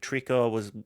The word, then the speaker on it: Trico: dub was in Japanese, but Trico is the pronunciation.